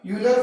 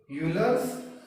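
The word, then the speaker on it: Euler: एक और इसमें फॉर्मूला आता है students, that formula is known as यूलर formula. E silent है, यूलर्स फॉर्मूला।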